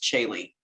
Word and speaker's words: Caeli: confusion to my name it is pronounced chili like hayley with the c so i i tell people the association is haley's comment just put a c in front of haley and gotcha that's an